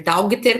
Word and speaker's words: daughter: Se escreve daughter, mas a gente fala daughter.